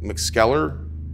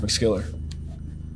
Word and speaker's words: McSkeller: excuse me I'm looking for a Tim mcskeller it's pronounced mcskiller but yeah man that's me